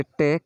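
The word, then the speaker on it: take: ई का उच्चारण अगला, किसी भी शब्द के अंत में ई साइलेंट होता है। जैसे टेक, ये ई कोई उच्चारण नहीं दे रहा है। GIVE, गिव, ये ई कोई ध्वनि नहीं दे रहा है, इसका कोई उच्चारण नहीं है।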